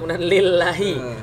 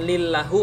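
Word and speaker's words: لله: lillah lam tadi itu lillahi bacanya bukan lillahu atau lillaha berarti kalau ada orang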